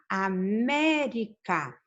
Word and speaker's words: América: A sílaba tônica está aqui em me, tá? América.